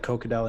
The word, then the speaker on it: Kokkedal: it of course yeah so there is a g but uh you don't need to to say it oh another nice shot